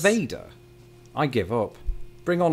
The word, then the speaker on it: Nevada: So from this day on, I vow to the people of Nevada that I will pronounce it Nevada. What's that? There's a city in Iowa with the same name. I'm it's a genius. It's pronounced Nevada.